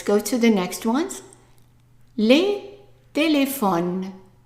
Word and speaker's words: téléphones: Les téléphones. And remember, we're not pronouncing the S at the end. The S of plural is silent.